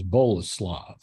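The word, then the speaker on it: Boleslav: shut up and please the full pronunciation is bola slav my parents call me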